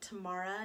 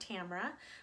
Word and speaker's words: Tamara: Hi there, my name is Tamara, and you do pronounce it that way, Tamara, not Tamara, because my grandparents were from Quebec because they were Native American, Iroquois, Mohegan Iroquois actually.